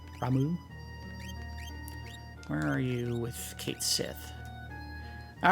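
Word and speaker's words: Cait Sith: which is pronounced Ki according to Square Enix it is actually pronounced Kate Sith so if you say Kate Sith depending on the context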